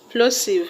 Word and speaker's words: plosive: The word plosive has its stress on plo.